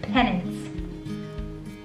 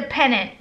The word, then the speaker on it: pennant: in the world of penance not penance pen nymph henon it's not pendants and it's not penance like church penance dependent penance it's a pennant right calling my mom hey